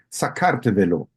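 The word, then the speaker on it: საქართველო: de paso, en georgiano el país se llama Sakartvelo, así Ah, se ok.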